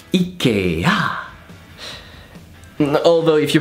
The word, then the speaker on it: IKEA: So in French we pronounce it Ikea. And this is basically because there's a massive E.